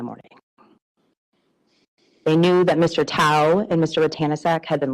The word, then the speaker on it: Thao: Thao. I was saying it wrong.